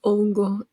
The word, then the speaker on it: hongo: __ ] out a hongo is a mushroom it's it's Ono H is silent h is silent in Spanish but it goes along